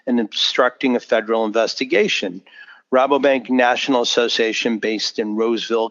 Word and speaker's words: Rabobank: the US and I guess do you say Rabobank him am I saying it correctly rapidly Rabobank okay this is a the US unit of